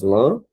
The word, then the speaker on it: lâmpada: Então, para separar lâmpada, veja que nós temos uma proparoxítona que é a antepenúltima sílaba acentuada, né? Nós temos lâmpada, certo?